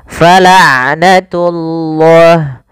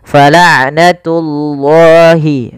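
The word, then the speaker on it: فَلَعْنَةُ اللَّهِ: dan tidak terlalu dilepaskan Dan falnatullah tullah tunya jangan tebal langsung jangan falnatullah enggak tapi dia falnatullahi baru lafal Allahnya ditebalkan alal kafirin ka mad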